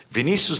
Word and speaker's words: Vinícius: Vinícius, está correta a pronúncia, Vinícius?